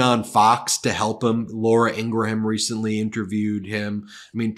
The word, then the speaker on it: Ingraham: So here's like Laura Ingraham in an interview with Fox.